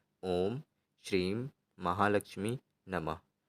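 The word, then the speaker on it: श्रीं: ॐ श्रीम महालक्ष्मी नमः इस मंत्र का आपको उच्चारण करना है श्रीम जिनको ना समझ में आया हो तो मैं यहां पर लिख कर के दिखा देता हूं यह रहा आपका श्रीम ओम श्रीम महालक्ष्मी नमः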